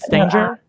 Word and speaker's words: Stanger: Have I been saying your name wrong? Is it Stanger? Well, yeah, it is, but it's a bit irrelevant because I'm changing back to my maiden name.